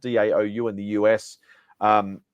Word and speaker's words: DAOU: uh a couple of Brands uh Dow it's pronounced daou in the US um it's it's so it's